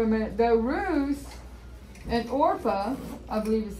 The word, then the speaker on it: Orpah: So if you think about it for a minute, though, Ruth and Orpah, I believe is how you pronounce her name, her daughter-in-laws were in the same boat.